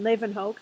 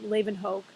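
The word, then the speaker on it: Leeuwenhoek: that I like to throw in um Antonin Leen Hoke that's how you pronounce that crazy long last name Leen Hoke was the first person to create a microscope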